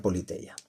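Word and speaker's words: Πολιτεία: Que aquí pues bueno, en griego digamos, se pronuncia Politeia.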